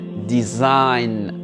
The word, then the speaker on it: design: très bien ici pareil d'israël le gênait pas prononcé on va directement à la lettre un design est ici friend for in le g pareil